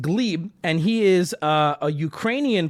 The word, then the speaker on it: Gleb: His name is Gleb, spelled Gleb, but pronounced Gleb, and he is a Ukrainian person who came